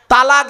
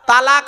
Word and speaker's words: তলাক: ঝগড়া করতে করতে দেখবেন তালাক দেয় ডিভোর্স দেয় আরবি একটা শব্দ উচ্চারণ করে আমি তোকে তালাক দিলাম শব্দটা তালাক নয় শুনে নিন শব্দটা হলো তলাক কি বললাম তলাক জোরে